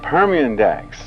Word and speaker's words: Permindex: them work somewhere all right let's talk about permian dax if i'm pronouncing it correctly that is correct uh that's